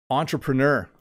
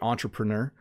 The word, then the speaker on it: entrepreneur: Entrepreneur. So this word, obviously, when we pronounce it in English, we say entrepreneur. In French, you would say entrepreneur.